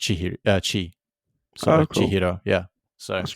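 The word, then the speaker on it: 千: So, so when it's compounded with the other symbol, Sen then becomes pronounced Chi.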